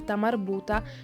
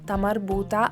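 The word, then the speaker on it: تاء مربوطة: È infatti un errore non pronunciare la lettera T in una parola che finisce per ta marbuta quando questa si trova all'interno di uno stato costrutto.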